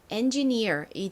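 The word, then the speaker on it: engineer: neer near 소리가 더해져서 엔지니어이 됩니다 이것도 끝에 가장 큰 강세가 옵니다 자 따라해 보세요 엔지니어 엔지니어 좋습니다 자 그러면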